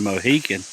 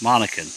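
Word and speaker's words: Monacan: I pronounce it wrong I said Mohican but it's Monica and the interpreters that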